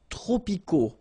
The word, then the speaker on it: tropicaux: Les climats tropicaux. Final X not pronounced.